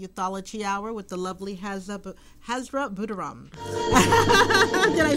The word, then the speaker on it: Hazra Boodooram: Lena Shockley Youthology Hour with the lovely Hazra Boodooram.